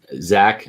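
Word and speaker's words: Zech: gotten drafted from the consensus board where was zach mcpherson on the consensus board because i felt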